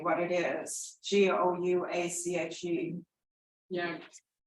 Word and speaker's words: gouache: Gouache. Yeah. Wash, I guess.